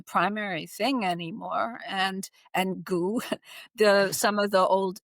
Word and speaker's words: Gu: So goo is, just in case you're wondering, is spelled gu um in English and it doesn't really have a translation. So we're just going to call it goo.